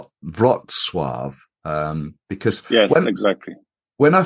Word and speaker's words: Wrocław: I would say Wrocław with very strong V, Wrocław. Wrocław.